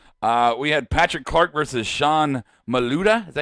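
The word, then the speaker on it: Sean Maluta: Before we go to our final thoughts of the show, we had Patrick Clark versus Sean Maluda. Is that how you say it? Sean Maluda.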